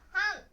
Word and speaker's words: 半: Nó có thể được đọc là "han."